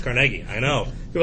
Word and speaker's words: Carnegie: production was andrew carnegie carnegie his name is pronounced carnegie i know you're like carly no actually it's